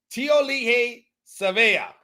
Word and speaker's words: Tiaoalii Savea: may we may need to learn how to pronounce it so there you go tiol Le SAA is how you go t sea uh will